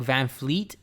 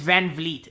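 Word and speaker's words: VanVleet: Because it's like Van Fleet or Van Vliet? It's Van Vliet.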